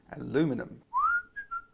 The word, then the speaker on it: aluminum: aluminium drip tips or for the benefit of my American viewers who pronounce it differently and spell it differently aluminum in total there are